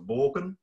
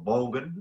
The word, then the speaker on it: Borgen: So I do expect to see you in the next series of Borgen. We get the Borgen series here in Australia, or Bolgen, I think is how you correctly pronounce it.